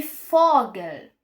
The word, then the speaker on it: Vogel: O V raras vezes pode ter som de F, como por exemplo vogel. Aqui tá escrito vogel, mas você pronuncia um pouquinho de foger.